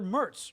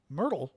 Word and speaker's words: Merz: Um the um Mertl Mertl? It's not Mertl? What is it? I I'm screwing up his name now. Tell me it's not Mertl. It's Merz cuz I always think